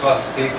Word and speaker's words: swastik: In Hindi, it's pronounced swastik. The A is silent, the A denotes feminine gender.